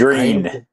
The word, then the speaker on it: Gruene: Is that Green? It's spelled weird, but yeah, it's pronounced green, like the color.